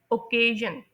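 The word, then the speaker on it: occasion: दूसरे सेलेबल में then third saleable में अब आप कह कहेंगे कि आई ओ तो दो वोवेल साउंड्स बनती हैं। नहीं ऐसी बात नहीं है। ये दोनों मिलकर एक साउंड बनाते हैं।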